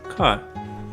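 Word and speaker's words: क: out without the aspiration to visualize this even further imagine holding a piece of paper in front of your mouth as you speak now try to pronounce the first letter of the Nepali alphabet cut but don't let the paper move with the air that comes out of your mouth if air comes out and moves the paper odds are your aspirating that sound now try the second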